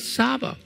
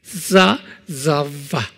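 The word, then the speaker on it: צבא: But actually, it's not Saba. It has a T-Z-V-A sound. Okay? So it's how you pronounce that. Zava, like that.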